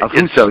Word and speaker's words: Affuso: I'm pronouncing that right. Right. Affuso, yes.